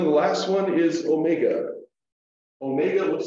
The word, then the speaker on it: omega: last one is omega Omega looks like a curvy w oo this and Omega has a long o sound as in Omega so always a note